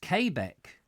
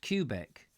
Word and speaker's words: Quebec: it nice to see you there Diana it's pronounced kbecque it's it not cubic okay Beck do you know I've always called